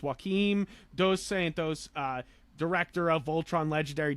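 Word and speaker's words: Joaquim Dos Santos: well uh so uh jacombe I'm saying it wrong but I think it's Joachim dos Santos uh director of Voltron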